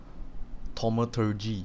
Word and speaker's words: Thaumaturgy: I mean, how do you freaking pronounce that? Thaumaturgy.